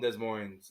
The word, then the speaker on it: Des Moines: Des Moines. I can't pronounce that. Is that Randy from Des Moines?